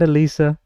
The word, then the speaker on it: Alisa: Good night, Alisa. There you go. How's that? Good night. A lot of people pronounce it as Eliza first.